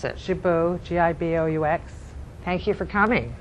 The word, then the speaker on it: Giboux: I can't pronounce it. Giboux, G-I-B-O-U-X.